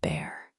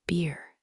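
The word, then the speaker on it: Bhaer: It isn't pronounced either bear or beer, as people will say it, but something between the two, as only Germans can give it.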